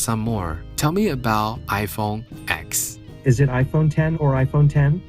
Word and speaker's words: iPhone X: iPhone 10 is pronounced iPhone 10 or iPhone 10 not iPhone in the letter X X is the Roman numeral for 10 and Apple chose to